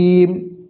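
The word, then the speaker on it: جيم: হয় সেটি হচ্ছে জি জিম জিমটা মজবুত আওয়াজে হবে ভারী মজবুত আওয়াজে শক্ত আওয়াজে এটি হবে জিহ্বার মধ্যখান তার বরাবর উপরে তালুর সঙ্গে লাগাইয়া জিম শিন ইয়া অর্থাৎ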